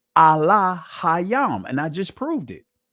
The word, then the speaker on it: Elohim: So the proper pronunciation of God per se in the ancient Hebrew is not Elohim. It's Allah Hayam.